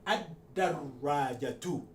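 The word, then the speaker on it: الدراجة: script, I explained that once you have the L followed by a letter carrying shadda, you suppress the pronunciation of lam. So we can ad-darajatu.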